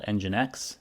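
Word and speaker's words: NGINX: We're going to use an open-source software package called EngineX. It's spelled NGX and EngineX is developed to help automatically balance the load between multiple servers or multiple applications that are running.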